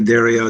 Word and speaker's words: Dario: Dario. I'll pronounce like Ariel, the Little Mermaid, but with a D.